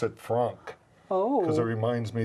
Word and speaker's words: FRAANK: And I pronounce it Frank.